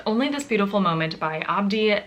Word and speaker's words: Abdi: Hi, my name is Abdi. The first syllable of my first name is ab like the abs you work out when you do stomach crunches.